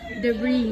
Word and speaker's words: debris: s years color color first word is debris na siya it's actually debris ah debris Let's have